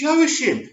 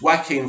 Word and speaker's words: Joaquin: But, I've heard people say Joaquin, but I was thinking, it's Joachim. It's spelled Joachim. So anyway, I didn't do very well at school. So thanks for educating me. It's Joaquin Phoenix.